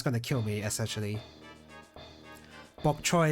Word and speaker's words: bok choy: to kill me essentially bok choy instead of by chai ah is bok choy a Cantonese pronunciation I didn't even know